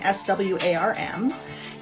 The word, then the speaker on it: swarm: So you saw the spelling, S-W-A-R-M. And it's swarm. Even though it's spelled with the A, it has an O-R sound, so or. So swarm. Yeah, so swar, or, swarm.